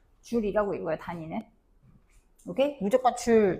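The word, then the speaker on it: joule: 줄이라고 읽어요. 단위는 오케이. 무조건 줄 줄 줄 줄입니다.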